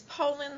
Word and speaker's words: Poulin: All right, let's move on to Poulin. That pronounce it correctly? Close. It's Poland like the country, Poland.